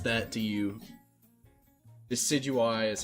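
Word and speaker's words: Decidueye: Decidui is how it's pronounced.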